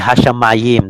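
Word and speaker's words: השמים: In Hebrew, it will be Hashamayim, the heavens, but never mind. Hashamayam. Correct, no? Sha, ma, Ma. yam. No? Yam. The last would be just close the syllable there, no? Sha, ma, yam. So do not read as hey, shin.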